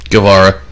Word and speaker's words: Guevara: in 1967 okay che Guevara Guevara I'm gonna use the Spanish pronunciation there okay well I